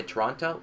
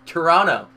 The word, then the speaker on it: Toronto: And you ask them, how do you say Toronto? If they say Toronto, it's wrong. It's Toronto.